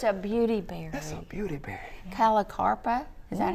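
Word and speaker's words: Callicarpa: Calicarpa. Is that how you pronounce That's it?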